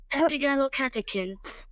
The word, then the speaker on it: epigallocatechin: It comes out in almost like a British tone, because I was attempting to pronounce it properly, but it's epigallocatechin.